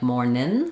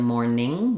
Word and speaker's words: morning: morning and evening um so these both end with the ing sound obviously um where the tongue needs to lift in the back um so be careful not to lift in the front like morning but rather morning ning um you can backwards